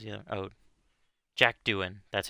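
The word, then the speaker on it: Jack Doohan: uh Pierre gastley sorry 's the other oh Jack Duan that's how you pronounce his name this is Pierre gastley and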